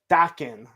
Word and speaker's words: Dakin: So Motu Guru is saying it's actually pronounced Dakin, like the band.